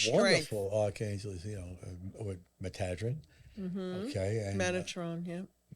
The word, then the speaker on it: Metatron: I was told that that's how his name is supposed to be pronounced. Okay. Metadrin. But most people... And when you look at it, M-E-T-A-T-R-O-N, Metadrin is correct.